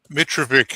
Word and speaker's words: Mitrovic: Mitrovic is the anglicised version. Mitrovic is the ethnic version, but the Australians didn't know how to pronounce it.